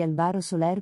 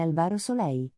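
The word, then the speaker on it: Álvaro Soler: di francesco gabani oppure il nome di albaro soler pronunciato come alvaro soleil in molti hanno insinuato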